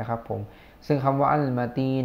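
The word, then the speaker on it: المتين: หรือ ว่า อัล มาตีน มี ตัว อลิฟ ตัว ลาม นะ ครับ ตัว มีม แล้ว ก็ ตัว ตา ตัว ยา ตัว นูน นะ พี่ น้อง อ่าน ว่า อัล มาตีน หรือ ว่า อัล มาตีน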